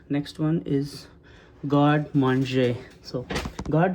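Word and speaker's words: garde manger: for me cuz first I didn't know how to pronounce it I was pronouncing it as a god manga right but it's a god M it's a French word so God man is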